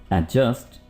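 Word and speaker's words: adjust: एडजस्ट the side mirrors. दोस्तों यहां पर डी को बिल्कुल भी प्रोनाउंस नहीं करना. इसको आप बोलेंगे एडजस्ट.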